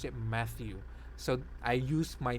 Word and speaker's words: Matthew: i pronounced matthew matthew matthew that's how i pronounced it they called me mateo mateu so when i started working one of